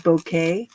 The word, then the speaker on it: Bucket: it's funny because she her last name is spelled Bucket, Bucket, but she calls herself Mrs. Bouquet. It's bouquet. And we're like, okay, bouquet. It's pretty funny though.